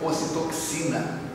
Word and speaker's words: ocitocina: área do êxtase, você libera um neurotransmissor chamado ocitocina, outros pronunciam ocitoxina, que libera uma carga de energia muito grande.